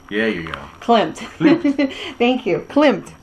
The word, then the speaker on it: Klimt: Gustav glimpse glimpse quote Clint Clint Klum Clint yeah yeah Clint thank you klimt like it's like it's spelled we stop Clint okay